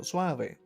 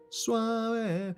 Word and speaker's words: suave: is in Spanish and the e at the end the e it's pronounced as e. So suave suave it happens a lot